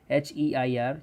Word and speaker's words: heir: H-E-I-R. You will pronounce as you pronounce heir. Okay. H is silent. So the way you pronounce air, you will have to pronounce the same this word.